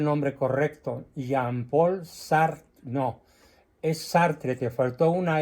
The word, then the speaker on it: Sartre: Jean Paul sartre sartre y se pronuncia sartr porque el francés se come la e final sí Entonces corrígelo por